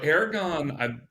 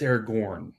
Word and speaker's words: Aragorn: So Aragon, it's Aragorn. Just before you get drugged again. Yeah, okay, Aragorn. I'm joking. People pronounce it both ways.